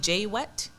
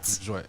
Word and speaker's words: Jouet: Just to let you know, I was saying J-Wet. And Jouet. that's surely not how you pronounce it. Jouet. Jouet, yes.